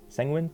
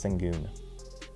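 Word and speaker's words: Şengün: That means Sang Sanguin I never pronounced his name right. Alpin let's just call him Alpin. I think it's Sangun. I think the U has like two dots over it like a um lot.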